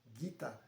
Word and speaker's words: Gita: E aí tinha a música Gita, né? gita, e a pronúncia seria guita.